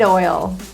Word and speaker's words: oil: The word oil is difficult for most people because it actually has two vowels plus a slight diphthong in there.